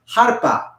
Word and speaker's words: arpa: In Spanish, it's pronounced harpa.